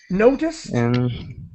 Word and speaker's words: noticed: mean to do that when you add the D you pronounce the Ed as quickly as possible as a t noticed okay yes do